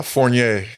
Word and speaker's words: Fournier: bro your your last name how do you pronounce it uh forier forier yeah dude I would have never I